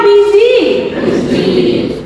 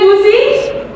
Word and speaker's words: busy: Siapa yang milih busi? Ada yang milih busy? Oke, yang benar adalah pelafalannya atau pronunciation-nya adalah busy, bukan busi ya. Walaupun kita orang Indonesia, tetapi ini bukan dibaca busi.